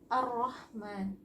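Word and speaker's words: الرحمن: Ini jadinya alif lam syamsiah ya, makanya dipakai tasydid. Maka membacanya ar-Rahman, ar-Rahman.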